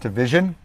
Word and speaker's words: DVSN: someone corrected me it's it's spelled dvsn but it's pronounced division and if you love